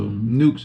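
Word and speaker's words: Newk's: So Nukes, how you spell it?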